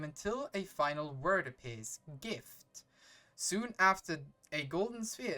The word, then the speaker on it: GIF: present don't you know don't you dare that is pronounced GIF and I will not hear anything else soon a soon after